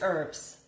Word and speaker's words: herbs: Sweden that is cool it is herbs the age is silent Okay so so what's wrong with my American friends who say herbs then is that just is that just how they grew up to say herbs I don't know I